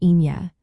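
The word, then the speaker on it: Aoine: In Irish, it is Ina, pronounced Inye.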